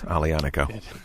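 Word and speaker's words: Aglianico: fun to watch people try to pronounce alianico yeah i think sometimes it's painful a little bit yeah to watch to watch yeah yeah right yeah there's a g in there pronounce it but there is one in there so you've been here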